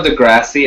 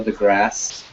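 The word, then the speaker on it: deGrasse: did you say Neil de grassy I learned today that it's actually pronounced Neil the grass the grass yeah grassy I always said the grassy myself as well it's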